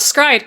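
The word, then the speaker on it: s-CRY-ed: Is it actually pronounced Stride? I don't actually know. I've just it is. It is actually pronounced Stride, but it's spelled like S-Cried.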